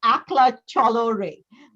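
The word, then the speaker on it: Ekla Chalo Re: for doing this and the pronunciation of the song is akla cholorae doing a rendition of a song in bengali called akhla chalo ray written by one of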